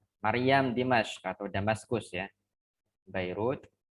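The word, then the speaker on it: بيروت: Dimas atau damaskus ya bairut Eh itu dalam bahasa Arabnya kalau jalan bahasa yang kita kenal tuh bukan makai batapi Beirut kalau damaskus dalam bahasa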